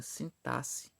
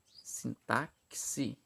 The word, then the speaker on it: sintaxe: vamos lá primeiramente pessoal eu já vi algumas algumas pessoas é pronunciando a palavra sintaxe da seguinte forma sintáxi não era isso não existe está incorreto a forma correta de se pronunciar é sintaxe sintaxe ok é meio estranho mas essa forma correta olha só a definição